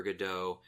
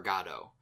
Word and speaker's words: Godot: all but the there's a lot of discussion and debate about how it's pronounced if it's Waiting for Godot or Gatto but he pronounced it it was like got it Godot or something along those lines which was kind of funny because that's one of the pronunciations that's nowhere in that discussion but the the actor